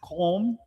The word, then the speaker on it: Qom: Home.